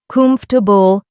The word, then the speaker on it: comfortable: If you mispronounce comfortable as four syllables, laugh it off and try again with three. Comfortable.